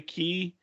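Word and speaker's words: Castaway Cay: it's pronounced key because that's the way that the Bahamas, that's the way they pronounce Bahamian.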